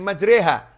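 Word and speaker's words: مجريها: Karena ada tulisannya Bismillahi majriha. Tapi bacanya Bismillahi majriha. Tulisan dan ucapan berbeda.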